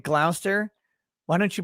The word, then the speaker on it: Gloucester: glaster yeah like any it's written glouchester or glauchester shire it's like that and you pronounce it gloucester why don't you pronounce